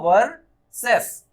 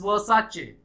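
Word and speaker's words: Versace: तो अगर ये वर्सेस नहीं है तो इसे आप क्या पढ़ेंगे, वर्सेस पढ़ेंगे नॉर्मली, लेकिन द ब्रांड सेज इट्स वर्साचे। इसको प्रोनाउंस करता है ब्रांड अपने से वर्साचे।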